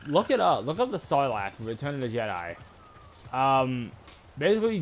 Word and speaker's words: Sarlacc: No, Sarlacc. S-A-R-R-L-A-C is how you spell that creature's name.